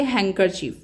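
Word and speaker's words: handkerchief: Question number 63 इज we letter in the word हैंकर चीफ is silent. इसको हम pronounce करेंगे हैंकर चीफ। Okay? This is द हैंकर चीफ। अभी यहां पर देखिए जो डी है वो मेरे प्रोनाउंसिएशन में मिसिंग है।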